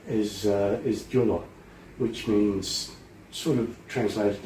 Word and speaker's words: Gyula: It translates as acorn, and my first name is Gyula, which means sort of translated into Julius.